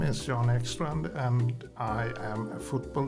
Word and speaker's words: Jan Ekstrand: See, I didn't ask him before we went on air, but I can say it in Swedish. Go on then. Jan Ekstrand.